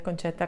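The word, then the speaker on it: Concetta: también, y decirles hola, mi nombre es Concheta, se pronuncia así, aunque se escribe sin H, pero se pronuncia así. Dentro de unos días voy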